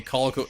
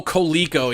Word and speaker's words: Coleco: Colico, yeah.